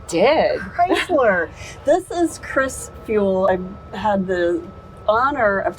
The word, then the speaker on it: Feuell: a few times and I remembered how to pronounce her last name by thinking of fuel and the new modern way to fuel a car which is with electricity